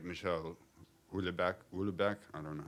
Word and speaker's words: Houellebecq: You know, the sensational things like Michel Houellebecq, I don't know how to pronounce it.